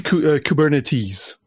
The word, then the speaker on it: Kubernetes: En anglais, on dit Kubernetes. Donc, on prononce le S à la fin.